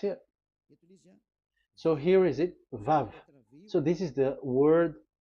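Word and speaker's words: וו: So it's V as in Vogue. So it's really V. How to read Vogue? So the word, the shape Vav is really pronounced V, like Vogue. That is it, pronunciation. So here in this side, it's pronunciation. This is pronunciation. So according to the old Hebrew word today, those who, the owner of the words, I mean, so it's a V. So don't change it into W.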